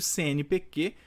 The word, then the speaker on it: CNPq: aparecer até uma letra minúscula Tá mas eu pronuncio CNPQ letras isoladas também mas a sigla do CNPQ é com o q minúsculo beleza jogo é